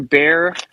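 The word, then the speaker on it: Barre: the water like Dr bear is in like the animal well it's spelled b-a-r-r-e but it's pronounced bear it's the permaculture is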